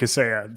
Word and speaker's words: Kaseya: Kaseya, is that how you say it? So I am putting a stake in the ground. I'm confident in Kaseya.